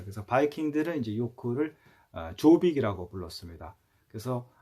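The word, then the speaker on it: Jórvík: 바이킹 들의 이제 욕구를 아조 빅 이라고 불렀습니다 그래서 어 7 아무래도 말씀드린 것처럼 그 제이가 묵음 이기 때문에 욥 이라고도 합니다 지금도 아이워크 에 가면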